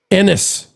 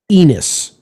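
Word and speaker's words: Enes: A S Enis Caner's first name is pronounced as if it rhymes with tennis.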